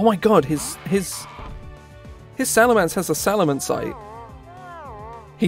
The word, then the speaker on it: Salamence: goes wait salam salamance is spelt with an e it's salamence i hate that that's awful what it's salamance everyone under the sun pronounces it salamance it's not salamence also it's dead i